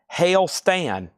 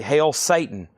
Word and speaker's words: Hail Stan: This is called Hail Stan. When you first look at it, you think it's going to say Hail Satan, but it says Hail Stan, H-A-I-L-S-T-A-N.